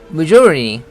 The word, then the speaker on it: majority: majority 해도 되는데 이 사람 같은 경우는 T를 죽이고 있습니다. 왜냐면 스트레스가 T에는 없잖아요. 그러니까 약하게 발음하는 거죠. 그래서 majority 이 정도 발음입니다.